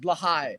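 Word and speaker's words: Blåhaj: Actually, technically, it's pronounced Blahai.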